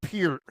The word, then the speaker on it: Peart: No, you know, that's- like that's- it's that's his- pronounced Peart.